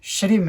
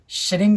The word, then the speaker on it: श्रीम: तो उसी प्रकार से श्रीम है, श्रिंग नहीं आएगा, श्रीम आएगा, HREEM श्रीम।